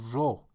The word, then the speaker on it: را: In spoken Farsi, ra sometimes, most of the time actually, changes to ro in pronunciation, or o for ease of pronunciation.